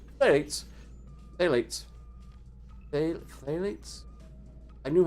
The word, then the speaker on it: phthalates: one phthalates it's probably it's probably phalates but ph is an f and then you have a th right after that so for phthalates well for phthalates are